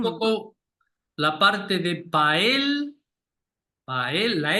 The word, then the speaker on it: paella: mm, Yo siempre les digo que hagan el esfuerzo de juntar la L y la Y, la Y. Entonces, un mm, poco la parte de pael, pael, la L de él, ujú.